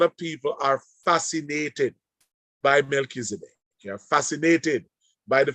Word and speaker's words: Melchizedek: the whole story of Melchizedek. I want to share that it's not Melchizedek, it is Melchizedek. That is the idea of the name. It's the pronunciation rather of the name, Melchizedek.